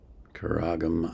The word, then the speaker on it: Qaraqym: And I now realize I pronounced it wrong because I could hear him singing it. Qaraqym, I guess it is.